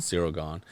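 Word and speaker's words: Ciryl Gane: Cyril Gahn.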